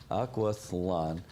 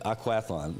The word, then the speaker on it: Aquathlon: How do you pronounce that? Aquaflon.